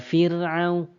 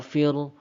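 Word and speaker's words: فرعون: Ya, kita baca ro-nya tipis saja teman-teman. Fir, fir. Wa fir'au, wa fir'au. Ya, bacanya cukup tipis ya. Kita baca tipis, jangan kita tebalkan. Kalau tebal teman-teman seperti ini. Wa fir'au, wa fir'au. Itu tebal dan itu salah ya.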